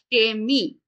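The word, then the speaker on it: Chemie: আবার শব্দের শুরুতে যখন সে তেহা বসবে তখনও এটার উচ্চারণ স এর মতোই হবে। যেমন এটাকে আমরা বলবো সেমি, এবং এটাকে বলবো সিনা।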